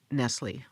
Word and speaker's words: Nestle: Like Nestle only pronounced Nestle.